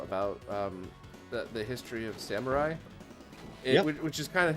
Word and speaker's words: samurai: of samurai is it samurai oh because i've i heard years ago somebody pronounced it samori and i'm like there's no way that's right there's no way but